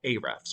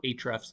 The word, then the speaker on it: Ahrefs: So the way we do that is with a system called Ahrefs or Ahrefs, depending on how you want to pronounce it.